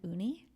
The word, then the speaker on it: Ooni: I just bought, last year I bought an uni. Uni? An uni. Uni, like sushis. No, that is also uni. Okay. But I think in English we would spell that U. This is uni, OONI, okay.